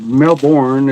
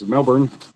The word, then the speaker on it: Melbourne: It's not Melbourne. It's Melbourne. Melbourne.